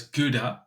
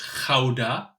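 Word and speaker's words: Gouda: close to a city that everyone knows as guda we pronounced as Kaa just to be sure um in a small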